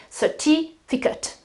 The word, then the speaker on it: certificate: So the rule is verbs. Yes, you use the pronunciation ate, debate, participate, but when you have nouns, then you change the pronunciation completely. It is ut. and the accent is before, chocolate certificate.